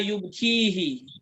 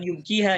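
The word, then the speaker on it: يبكيه: ya Fasalhu ma yubkihi, bukan yubkiha ya. Ma yubkihi.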